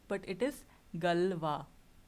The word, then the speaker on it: Galois: Now, how do you pronounce this? This is not Galios, but it is Galois, right?